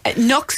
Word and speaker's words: Nuxe: And to be fair, Nux is always, and that's, by the way, listeners, because I know you'll ask me this, it's spelled Nuxe.